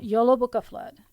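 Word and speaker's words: Jólabókaflóð: o d flood it's all one word though YOLO Booka flood it's the Icelandic Christmas book flood that's that's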